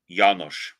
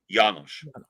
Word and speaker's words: János: That one, that's actually pronounced János. János with an H. Yeah, emphasis on the first syllable. János.